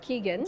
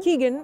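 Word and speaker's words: Kegan: from Freddy Lou Robert Kagan said how you pronounce yes Keegan Keegan yeah and everyone culture becoming a deliberately development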